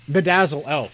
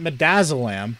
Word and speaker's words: midazolam: oh god medicine name bedazzle l we had to dump midazolam that's how you pronounce that into the tissues once